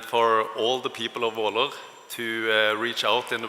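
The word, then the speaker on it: Våler: First of all, I want to explain the Norwegian letter Å, which is two A's, and it's pronounced Å. So then it's Valer Church.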